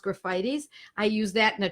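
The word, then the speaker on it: Graphites: I took graffitis looks like Graphite's but it's pronounced graffitis I use that in a 200c because of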